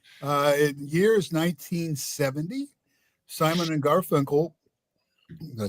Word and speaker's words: Garfunkel: Yes, it's pronounced Garfunkel.